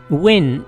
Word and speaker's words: Nguyen: bait or a hug depending on how it's pronounced win is the most popular surname almost 40 of